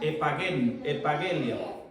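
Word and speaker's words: ἐπαγγελία: Más bien, dentro de aquí, de nuestro estudio bíblico, nos dice que la palabra promesa es la traducción griega epageni, pronúnciese epagelia, la cual ocurre en el Nuevo Testamento un total de 153 veces.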